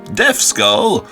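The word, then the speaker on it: Deathskulls: Next up is Slev, with his Death Skull, which I will pronounce Deff Skull, Warboss in Mega Armor.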